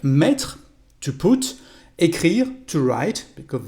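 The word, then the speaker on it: mis: for more verbs like met to put to write because they've got a past participle irregular the masculine form is me again we don't pronounce the last letter but the feminine form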